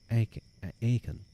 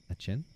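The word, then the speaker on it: Aachen: He was then attached to the court of Charlemagne at Aken. That's not how you pronounce that. Achen. No. And then he adds, "When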